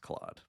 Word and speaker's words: Claude: but as we know you're more of a Cloe guy it's pronounced Claude please oh sorry whatever yeah